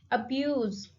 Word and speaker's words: abuse: Abuse. Abuse. The stress is on second syllable, views.